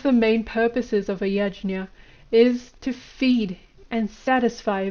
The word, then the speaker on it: yajna: The Sanskrit word for sacrifice is yajna, which is a word of 2 syllables, ya and jna.